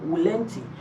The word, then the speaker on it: volenti: you know in Latin in real Latin you know the V is pronounced as W so you have volanti but let's just call it volunte non-fiction and it's a